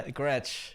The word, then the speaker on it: Gretsch: I mean, you guys can't see it, but it's I never know how to pronounce it. Can you tell me? The Gretsch? Yeah, Gretsch.